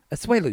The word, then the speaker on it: Asuelu: Asuelu, you said it right.